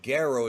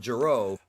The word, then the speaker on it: Gero: more about G's backstory including the fact that goo is the right way to pronounce it not jro oh wow I was about to say don't